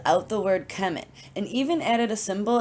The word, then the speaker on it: Kemet: They called it Kemet. So that's why it's spelled out as KMT.